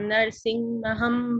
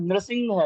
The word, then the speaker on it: नृसिंह: वागीशा यस्य वदने लक्ष्मीर्यस्य च वक्षसि यस्यास्ते हृदये संवित्तं नरसिंहमहं भजे। नरसिंह नहीं है, नृसिंह है, नृ है, नरसिंह नहीं है, नर नहीं है, नृसिंह।